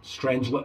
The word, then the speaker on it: Strangelet: The PAA strange lip blades, or strangler blades, however you want to pronounce them. I'd pronounce that actually strangelet blades.